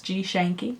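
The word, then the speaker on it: GShenky: stuff uh g-s-h-e-n-k-y is how my artist name is spelled it's G shanky it's just my last name pretty much um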